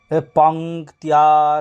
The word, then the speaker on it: পঙ্ক্তিয়া: পঙ্ক্তিয়া সহ, পঙ্ক্তিয়া সহ, যে পঙ্ক্তিয়া সহ উচ্চারণ কি করে হলো? প যুক্ত ম পং, ক যুক্ত ত যুক্ত ইয় যুক্ত আ, তো হলো কি তিয়া, তো পঙ্ক্তিয়া পঙ্ক্তিয়া পঙ্ক্তিয়া সহ।